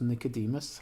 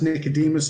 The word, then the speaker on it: Nicodemus: I pronounce Nicodemus. How do you pronounce? Pronounce Nicodemus as well.